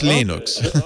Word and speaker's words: Linux: he pronounces my name is lena storvalds i pronounce lenox linux that was for a long time linux came